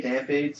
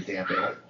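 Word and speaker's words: Dampé: But he's got the E with the apostrophe, with, like, you know, fiancé, so it's most likely Dampe.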